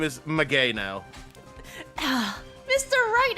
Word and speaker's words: Maggey: Maggie. That's not how you pronounce it. And the victim was left-handed. Maggie. That's not how you pronounce my name, Mr. Wright. Maggie. Close enough, I guess. Maggay.